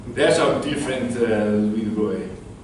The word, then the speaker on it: de Broglie: And there's our dear friend Louis de Broglie. De Broglie, I think it is properly pronounced in French. De Broglie. En français. Louis de Broglie.